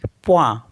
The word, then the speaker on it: point: POINT, प्वा।